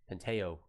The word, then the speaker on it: Pantoja: Penteo.